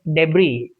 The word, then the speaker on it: debris: Similarly, it is debris.